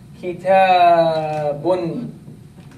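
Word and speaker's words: كتابٌ: It is there in pronunciation, but not in writing.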